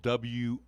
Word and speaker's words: Wrede: By the way, the last name is spelled W-R-E-D-E.